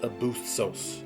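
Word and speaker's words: ἄβυσσος: but the actual word was this and it's pronounced abusos that is where the word Abyss comes from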